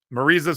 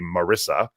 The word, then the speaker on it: Marisa: B, she was nice enough to tell me how to pronounce her name, knowing I was going to open it tonight because it looks like it would be Marissa.